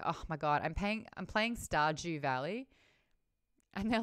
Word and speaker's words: Stardew: It's got a D in there, but like when you're just saying it quickly, Stardew. Stardew. Yeah. Yeah, just like how I say June. D-U-N-E. Yeah. June. But like you do hear the D on it slightly, like June. But it's like it's more of like a DY makes the J sound.